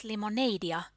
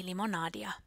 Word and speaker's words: limonadia: The speaker pronounced it as limoneidia, but it should be limonadia.